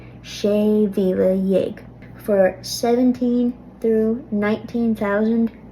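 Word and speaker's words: mhíle: And again, notice that after 1 through 6, the word for thousand, Mila, will be lenited to Vila.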